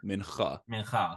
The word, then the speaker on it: mincha: That's the thing, and it is mincha. Mincha. Well, mincha. It's more of like a minchuh, like mincha.